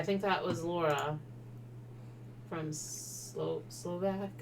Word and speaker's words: Slovak: Yeah, I think that was Laura from Slovak. I always say it wrong. I think it's Slovak, not Slavic. I think it's Slovak. Yeah. Because Slavic is a race of people.